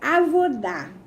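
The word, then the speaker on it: avodah: Ele é avodá, se escreve A-V-O-D-A-H, que quer dizer serviço de Deus.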